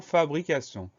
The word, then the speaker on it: fabrication: Et dernière syllabe sion, TION. On fait attention à cette syllabe-là, mais c'est une syllabe très fréquente à la fin des noms. Donc la seule difficulté, c'est la syllabe sion qu'on écrit T-I-O-N.